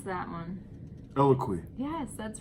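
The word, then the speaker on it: Eloquii: So the third brand, can you pronounce that one? Eloquy.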